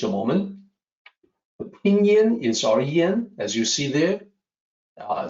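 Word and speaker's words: rén: Uh so, as a native English speaker, you may say Ren. That's how it kind of sounds from the way it's spelled. In Mandarin, it's a little bit different, Ren, but it's uh R E N, Ren, that's the closest we can come to.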